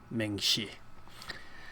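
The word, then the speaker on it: མིང་གཞི: And then that's how you would spell it. And this is how you would pronounce it, ming, shi.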